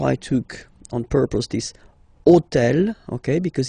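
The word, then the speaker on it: hôtel: took on purpose this hotel okay because it starts with Ash but remember that in French we don't pronounce Ash okay so basically the first sound of the word is the vowel O Okay so for the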